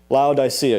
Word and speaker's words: Laodicea: And this particular church was known as the church in Laodicea. Laodicea. You should be happy that I pronounced that correctly because it's a doozy of a word.